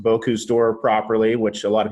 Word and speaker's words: Bocuse: So Rich is a certified master chef, and he represented the United States at the Bocuse cooking competition, and he was also featured in the film The Contender, which documented that process.